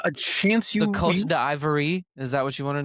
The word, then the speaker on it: Côte d'Ivoire: to how it's pronounced. There's The not a chance you. The Côte d'Ivoire.